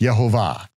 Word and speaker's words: Yehovah: Gordon then says, okay, now we know how to pronounce it, because the vowel pointings are not the vowel pointings for Adonai, that's a tradition. No, it would be pronounced Yehovah, Yehovah, Yehovah.